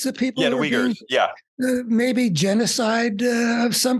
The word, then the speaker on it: Uyghurs: And now the Uyghurs, is that how you pronounce the people? Yeah, the Uyghurs, yeah.